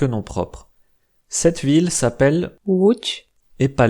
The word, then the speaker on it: Łódź: Voilà, maintenant que vous savez presque tout sur la prononciation polonaise, j'aimerais juste mentionner quelques noms propres. Cette ville s'appelle Łódź, et pas Lodz.